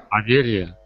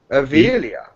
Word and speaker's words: Avelia: Adelia? Adelia? Yes. Avelia. Did I say it wrong? A-V. Avelia.